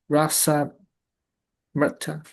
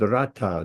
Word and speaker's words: Rasamrita: Rasa Mrita. Rita. Mrita. Rasamrita, not Rata. The R with a dot under like in Krishna. It's not Krishna. It's Krishna. It's the same.